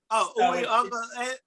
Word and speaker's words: Uiagalelei: So the law is actually la. It's la. Not lay. Uiagalelei.